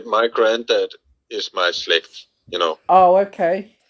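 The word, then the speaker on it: Slægt: Did I pronounce the band name right? Slęgt? Slęgt? Yeah, that's totally all right. Slęgt.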